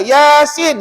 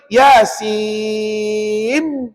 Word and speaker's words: Yasin: Sin ya Nun Nun tak boleh tutup bibir tak boleh Yasim tak boleh salah dia kena Yasin hujung lidah tu tekan